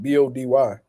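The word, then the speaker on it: Bahdi: H2O still just 20 years old, an inch shorter than Lucas Body. Lucas Body. Okay, cool. So his name is pronounced like Body.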